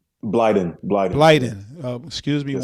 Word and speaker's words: Blyden: How you pronounce it? Is it Blind? Blyden.